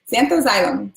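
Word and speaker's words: Zanthoxylum: Xanthoxylum, xanthoxylum, xanthoxylum.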